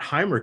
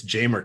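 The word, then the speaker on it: Jaimer: And then, of course, it's not Heimer Candelario. It's Jamer Candelario.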